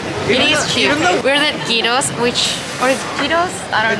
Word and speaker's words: gyro: How do you pronounce this? Gyro. Gyro. Okay. Okay, so it's pronounced gyro.